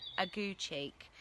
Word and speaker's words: Aguecheek: I had to check the pronunciation of that one, Aguecheek, and he's a friend to Sir Toby.